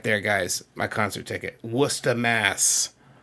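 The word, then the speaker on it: Worcester: You can see, of course, it's spelled Warchester, right? But anyone in the know. And of course up there in Massachusetts where I lived it was Wora because that's how we say things up there you know.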